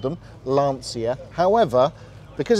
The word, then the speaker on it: Lancia: Is the Lancia Integrale, the Delta Integrale.